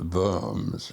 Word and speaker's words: Worms: When we got to Brain Island and got off and got on a train for Worms, Germany, pronounced the Vums in German.